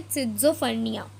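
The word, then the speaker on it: schizophrenia: ये जो वर्ड आपको दिख रहा है ना, ये वाला टॉप मोस्ट पे है, या दिस वन, तो इसको हम प्रोनाउंस करेंगे सिज़ोफ्रेनिया। क्या प्रोनाउंस करेंगे बच्चों?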